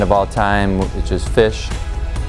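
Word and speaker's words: Phish: all time which is fish spelled with a pH fish I was the oldest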